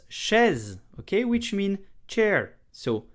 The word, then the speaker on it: chaise: So the sh sound, okay? Then an open e, okay? Then a z sound. Chaise, one syllable and a small piece of history.